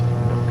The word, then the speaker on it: Nuuk: But how do you pronounce it? Nuuk. Oh, did you guys hear that? Nuuk. Nuuk. Nuuk. Nuuk. Okay. Good. Not sure if you guys heard that or not, but it's Nuuk.